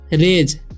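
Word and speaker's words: rage: उसी तरीके से है आर से हो जाएगा र और ए का उच्चारण यहाँ पर ए हो रहा है। ठीक है। और जी ई का क्या हो जाएगा, ज। तो हम क्या पढ़ेंगे, रेज। ठीक है। इसे रेग या रागे नहीं पढ़ना है या राजे नहीं पढ़ना है।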